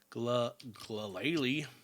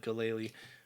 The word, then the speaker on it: Glalie: Gallery I think these maybe I've just been saying it wrong all all my life but that is not how I thought there was another a in that because I've always said kalali but that is not